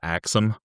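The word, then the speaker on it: Ax 'Em: Oh, like axom like chop.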